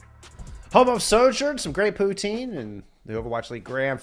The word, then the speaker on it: poutine: Home of Sojourn, some great poutine, and the Overwatch League Grand Finals.